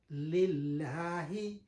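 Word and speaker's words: لله: Due to that reason, the lam in the harf jalala, it become lighter in pronunciation. Lillahi, yani we are speaking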